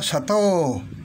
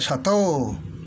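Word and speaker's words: 砂糖: Katulad nito, sugar. Nakita nyo, sato. Yung O kasi mayroong guhit sa ibabaw, kaya sato.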